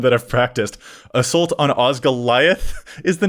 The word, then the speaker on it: Osgiliath: How's it pronounced? I don't know Lord of the Rings that well. What is Osgiliath is what we're looking at. Osgiliath.